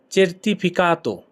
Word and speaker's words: certificato: সনদপত্র এর ইতালিয়ান হবে চের্তিফিকাতো। চের্তিফিকাতো। সনদপত্র এর ইংলিশ হচ্ছে সার্টিফিকেট। ইংলিশ কি সার্টিফিকেট। ইতালিয়ান কি হবে সের্তিফিকাতো। certificato, অনেকটা ইংলিশের মতোই উচ্চারণটা।